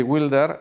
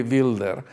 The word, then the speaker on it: Wilder: como siempre bueno Billy wilder es otra cosa en realidad Billy Wild o Billy wilder o Billy se debería pronunciar Billy builder porque él era austriaco nació en un pueblo